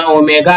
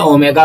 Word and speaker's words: ओमेगा: यह ग्रीक अक्षर में होने के कारण इसका उच्चारण ओमेगा है। इसको हम लोग क्या बोलते हैं? ओमेगा बोलते हैं।